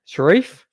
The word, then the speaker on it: Sharif: And Brandon Sharif, Sharif, yeah. like Omar.